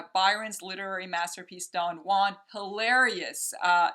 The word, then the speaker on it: Don Juan: Don Juan is how they pronounce it, but Don Juan is a masterpiece of Lord Byron's.